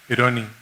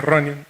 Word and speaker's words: Ronnie: Él, sin despegar la vista del televisor, me dice: Eroni, Mi papá era checo, los checos no pueden pronunciar la R, por lo tanto no me dice Ronnie, me decía Eroni.